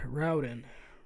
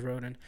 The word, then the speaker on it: Raoden: Raoden. Roden? I pronounce him as Roden.